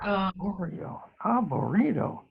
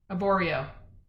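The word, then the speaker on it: Arborio: that's a vegetarian dish for the most part oreo a burrito did i say it wrong aborio aboreo thank you um sometimes my brain doesn't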